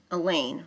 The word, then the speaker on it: Elaine: Even in the lunchroom, Elaine rhymes with pain.